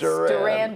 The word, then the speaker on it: Duran Duran: wrong syllable a Duran little bit. It's Duran. Duran Duran.